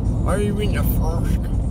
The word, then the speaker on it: Throsk: Throsk is how you say it. It's how locals say it. Why are you in the Throsk?